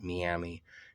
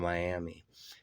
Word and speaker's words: Miami: They do pronounce it Miami instead of Miami in Oklahoma.